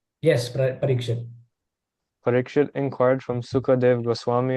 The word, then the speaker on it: Parikshit: Parikshit? Yes, Parikshit.